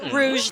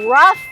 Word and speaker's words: rough: day a rou day I think you mean a rough day oh it's time to